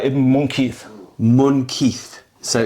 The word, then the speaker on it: Munqidh: Syrian knight who fought the Crusaders, Usama ibn Munqidh. Okay, we've got to spell that out for us. Usama, like Osama. Ibn, I-B-N. I-B-N. M-U-N-Q-I-D-H. M-U-N. Q-I-D-H. Q-I-D-H. How do I pronounce that again? Usama ibn Munqidh.